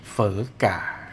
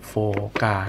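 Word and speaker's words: Phở gà: Rice แปล ว่า ข้าว เฝอ ก่า เ อ่าน ว่า ไม่ อ่าน โฟกา นะ อ่าน เฝอ กา นะ ฮะ เป็น เฝอ เ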